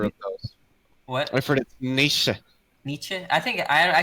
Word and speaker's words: Nietzsche: that all the time i always say it with american slang americans say nietzsche but it's supposed to be nietzsche and i'm trying to